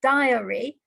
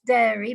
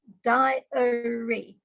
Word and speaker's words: diary: for some people is diary not dairy but diary and you pronounce it as diori as if it's three syllables not diary or dairy it's diory 55 make sure you're